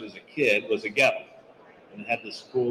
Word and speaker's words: Goettl: And he looks at me for a minute, he goes, "Goettl, it'll keep you cool, but it's hard to spell."